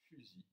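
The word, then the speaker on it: φύσει: Fusil. Le Y est un U. Ça se prononce U en grec.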